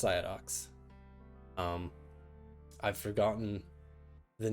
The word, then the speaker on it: Ciadox: So if you don't know, it's pronounced Psyodox.